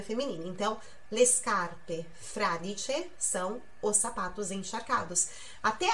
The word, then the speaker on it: fradice: Fradice. A sílaba forte, a tônica, é o fra. Então é fradice.